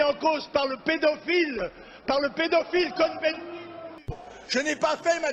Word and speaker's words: Cohn-Bendit: Même Cohn-Bendit, puisque nous sommes en France, on le prononce à la française.